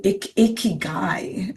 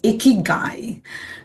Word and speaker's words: Ikigai: Um we can also say iicky. So we have to learn to pronounce it's a Japanese concept. It's called icky guy, you know, which means